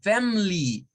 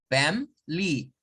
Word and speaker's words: family: usted escuche a personas decirlas sin la schwa y decirlas como family, family, solo dos sílabas, family, family. Family, family. Las dos son pronunciaciones correctas.